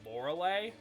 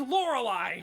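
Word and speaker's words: Lorelei: school Pokemon glitches work he pronounces laurelai as lauray and it makes me want to grow him with a panel wire like whoa cuz it's laurelai God damn it like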